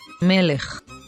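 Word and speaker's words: מֶלֶךְ: write it as its office form so we pronounce this word as melech now in this example we have the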